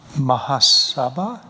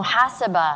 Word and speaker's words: muhasaba: You mentioned Mahasabha. Did I pronounce it right? Ingrid? I didn't pronounce it right. Yeah, because I'm not coaching. The accent's on the wrong part. Mahasabha? Oh, muhasaba. Muhasaba.